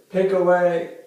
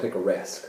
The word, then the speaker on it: picaresque: Pick away novel. Say that one again. Pick away. It's pronounced picaresque.